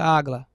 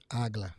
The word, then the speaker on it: AGLA: pega as iniciais e você vai ter a pronúncia agla agla isso aí agla significa atag